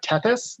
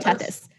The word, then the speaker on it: Tethys: this one it's uh it's a t t e t h y moon i cannot pronounce its name is that uh tethys is that this maybe that's how you have tethys and then over here